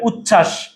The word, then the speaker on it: উচ্ছ্বাস: এই যে ভাইয়া উচ্ছ্বাস, চ ছ যুক্ত বর্ণ, যুক্ত বর্ণের সাথে যদি বফলাটা আসে বফলার উচ্চারণ হয় না।